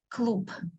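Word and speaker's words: клуб: pronounce correctly so sometimes when the last letter is bright like B is a bright sound we pronounce it as a dull sound P clo cloop cloop cloop okay so you do not hear clear B in the end you will hear Club I can say Club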